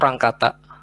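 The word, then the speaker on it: Runge-Kutta: Tulisannya sih runge kuta gini. Cuman bahasanya bacanya spellnya itu rang kata.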